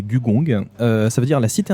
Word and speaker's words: Gugong: Alors, aujourd'hui, je vais présenter Gugong, prononcé Gugong.